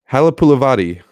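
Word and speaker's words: Halapoulivaati: Halapulavati Vaitai.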